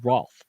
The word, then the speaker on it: Roth: And if you're looking for anything, if you know somebody who's hiring, you're hiring, man, reach out to Roth. It's like rhymes with chicken broth.